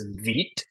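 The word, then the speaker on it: Vite: So, when we see npm create, uh, this word here, it's spelled vit, but it's vit and then we're going to do at five and there's a space here.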